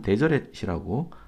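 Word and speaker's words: Deseret: 자, 3절에 보면은 데세레트란 말이 나오네요. 데세레트는 번역한즉 아담의 언어로 데세레트는 꿀벌이라는 뜻인 것 같습니다. 자, 이 후기 성도들이 굉장히 좋아하는 단어이므로 기억해 두시면 좋겠습니다. 영어로는 데저렛이라고 읽습니다.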